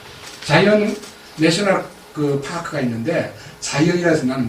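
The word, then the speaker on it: Zion: 자이언 내셔널 파크가 있는데, 자이언이라서 나는 무슨 자이언이 뭐예요? 영어를 보니까 시온을 자이언이라고 읽지 않아요.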